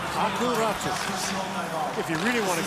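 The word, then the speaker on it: Aku Räty: Old habits die hard after Ratu was asked his name to be pronounced the Finnish way, where the Y is more of a new sound, so it's Aku Ratu.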